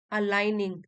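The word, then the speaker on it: align: में नहीं बट इन अलाइन ji silent है अलाइन आवर एक्शंस एक ही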